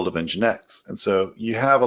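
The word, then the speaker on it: nginx: but they're also going to provide what is engine X X pronounced in genetics and then they talk about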